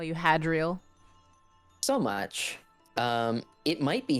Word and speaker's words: Hadriel: I don't remember how they or if they pronounce it in the game at all. Yeah, it's Hadriel.